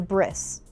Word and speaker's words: bris: Hebrew term, and a bris, which is the Ashkenazi Yiddish pronunciation of the word brit in brit milah.